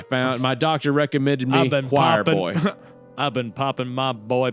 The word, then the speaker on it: QUIRBOI: It's spelled like with a Q, QUIRBOI. like queer boy. Yeah, queer boy. But it's choir boy.